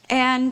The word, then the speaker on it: and: working here working here and uh and uh okay it's not that common to hear the d in the word and but she does do it especially you'll hear people